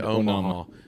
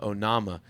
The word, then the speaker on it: Onama: I keep wanting to say Omaha, but Onama. I'd not heard of him at all.